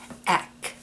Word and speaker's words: Eck: contest this one is called eck deck without the d in front of it is how the designer pronounces it and it's um it's